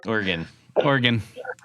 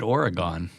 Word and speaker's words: Oregon: Oregon. Yeah, I've never said Oregon. I've always said Oregon.